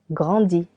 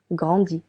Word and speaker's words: grandis: Je grandis. Is je grandis. Tu grandis. I tu grandis. Again, letter S is silent for both.